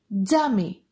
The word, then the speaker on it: τζάμι: Τζου sounds like J in the word jar. For example, τζάμι, τζάμι.